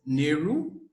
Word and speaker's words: Nehru: Moving on in our program, we'll continue this time with Toastmaster Elise Nehru, pronounced, as Peru.